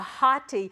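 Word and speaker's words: ὅτι: do the bottom yeah hotti that o is pronounced with the h because it's got a rough breather and there two vowels so it's hotti hotti yeus cuas they can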